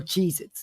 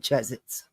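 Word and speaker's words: Cheez-Its: They're not cheesits. They're Cheezits. Thank you. I love you. I'm almost done. Yes, you can watch TV. One hour. All right. Love you. They're cheesits, not chzets.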